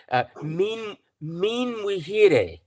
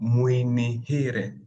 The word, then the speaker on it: Muinihire: You're Min Wihire. No, Muinihire. Muinihire.